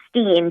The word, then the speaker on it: Stiene: Is it Stiene or Stein, by the way? Because I feel like I'm mispronouncing. It is Stiene, Janine Stiene. I like to be the rhyming therapist.